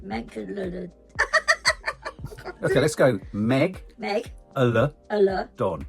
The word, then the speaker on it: Megalodon: Megalodon. No, you've put 2 L's in. Megalodon. Okay, let's go. Meg. Don. Don. That's it. Megalodon.